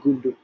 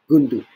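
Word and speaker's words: goondu: we use this term called gundu pronounce g-o-o-n-d-u i might wrong tell me if i am in the comments it's pronounced as gundu that means idiot you look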